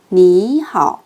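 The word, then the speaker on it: 你好: 빠르게 발음해 볼게요. 안녕하세요. 니하오.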